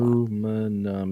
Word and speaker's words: aluminum: Aluminum is 4. Aluminium is 5. Yeah, they're adding another syllable.